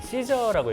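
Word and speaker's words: SZA: 시저라고 읽어요. 그 시저라고 있는. 네, 시저라고 읽는데 그 중에 프롬이라는 곡을 제가 골라봤는데 이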